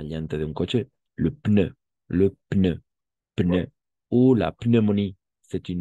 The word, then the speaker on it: pneu: Un pneu. Una llanta. Neumonía. Neumonía, o sí. Neumonía. Vamos a pronunciar las P's.